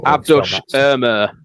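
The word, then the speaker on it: Abdülkadir Ömür: Abdoush Amr, apparently, is how you pronounce it.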